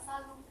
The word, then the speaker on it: salut: Atau selain au revoir kita juga bisa menggunakan salut. T-nya masih dibaca.